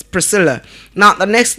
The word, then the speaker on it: Priscilla: We pronounce it as what? Priscilla and not Priscilia. Not Priscilia. It's Priscilla.